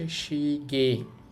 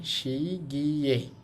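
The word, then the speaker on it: 시계: এই বর্ণটাকে ইয়ে উচ্চারণ করা যায় অথবা এ উচ্চারণ করা যায়, দুইটাই করা যায়। তাহলে আমরা এই শব্দটাকে বলতে পারি সহজে শিগে, অথবা আপনি যদি এভাবে বলতেন শি গিয়ে, শি শি গিয়ে, তাতেও কিন্তু হতো।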